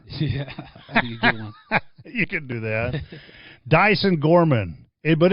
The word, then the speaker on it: Diesen: recorded right yes and it's actually pronounced dyson dyson dyson kind of like mud okay that makes